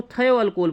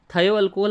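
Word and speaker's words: thioalcohol: यूज़ करें तो उसको थायो अल्कोहल बोलते हैं। क्या बोलते हैं उसको, थायो अल्कोहल आप इसे प्रोनाउंस करें या फिर थियो अल्कोहल बोलें, तो मैं तो इसे थायो अल्कोहल ही बोलता हूँ, ठीक है।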